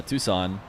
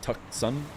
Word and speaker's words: Tucson: Why is it Tucson and not Tuck Sun? Uh cuz it's Spanish, I assume.